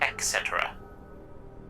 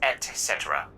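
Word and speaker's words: et cetera: sorry did you say etc etc i believe it's etc the t is before the sea are you making fun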